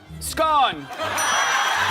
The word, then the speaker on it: scone: It rhymes with bone scone.